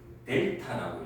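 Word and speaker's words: Δ: 이거는 그리스 문자인데 델타라고 읽어.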